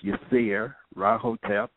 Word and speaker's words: Yirser Ra Hotep: email me at yes my name is pronounced yes rotap and the email address